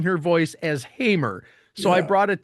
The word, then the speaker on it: Hamer: I go look her up, and the first thing I hear is her pronouncing her voice as Hamer.